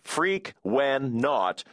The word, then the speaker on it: Frequenaut: It's pronounced freak, when, not, and it's based on the word frequency. The not part is the same as an astronaut, even though I don't really know what not means.